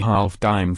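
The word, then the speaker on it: disme: seven decades the silver a half decem pronounced a half dime from an old french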